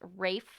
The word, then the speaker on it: Ralph: I think his name is pronounced Rafe Fiennes because he's like Scottish or something. So yeah, I didn't realize that. I think everyone's been saying his name is Ralph Fiennes for most of his career, and it's same with his brother.